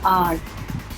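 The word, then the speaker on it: hour: आवर या आर, इसका भी H साइलेंट होता है.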